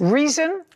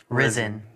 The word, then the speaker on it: Rizin: Reason? Risen. Risen. Spell it.